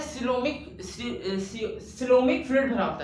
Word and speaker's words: coelom: एक minute, सीओमिक fluid, ठीक है, COELM, ये स्पेलिंग होती है, COEL, एक सेकेंड, हाँ, COELOM, ठीक, ऐसा, ये सिलोम क्या होता है, मतलब कहते हैं बॉडी स्पेस,